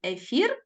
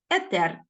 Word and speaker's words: етер: словах грецького походження тож зараз однаково правильно казати ім ефір і етер Отож Зверніть увагу що з 2019 року ми вживаємо паралельно як ефір так і етер кафедра катедра Міф і